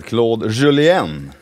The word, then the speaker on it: Claude Julien: Den erfarenheten har ju förbundskapten Claude Julien. Det är din nästa plus. Ja, verkligen. Bra uttal där förresten. Franskandensiskt uttalet där.